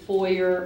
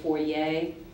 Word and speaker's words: foyer: n n a t your word has two common pronunciations I'm going to give you both of those pronunciations the word is foyer or foyer foyer or foyer for